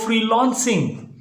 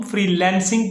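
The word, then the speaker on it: freelancing: न्यू फ्री lancer हैं वह क्या कहते हैं वह फ्री लॉन्चिंग तो भाई फ्री लॉन्चिंग नहीं होता इसको हम फ्रीलांसिंग पढ़ेंगे और इसी तरह अगर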